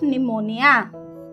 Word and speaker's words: pneumonia: very good died of pneumonia remember the spelling of pneumonia children p n e u m o n i a while pronunciating P remains silent okay moving next